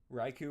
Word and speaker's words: Raikou: Raikou rhymes with Raichu.